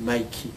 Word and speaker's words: Mickey: alors qu'on le sait Mickey peut se prononcer Mikey c'estàd B